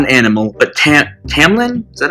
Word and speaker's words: Tamlin: her captor is not an animal but Tam Tamlin is that how you pronounce it one second yep Tam Tamlin thankfully got the pronunciation guide yay okay um where was I